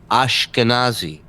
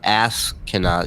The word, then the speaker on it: Ashkenazi: and then uh no you're not pronouncing it correctly and people may not be familiar with it just based on the way you pronounce it ashkenazi not ass cannot you're not you're not yelling at someone in traffic what does